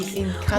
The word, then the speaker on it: Encanto: it's a T-O. Okay. Even though it's D-O, it's T. Encanto.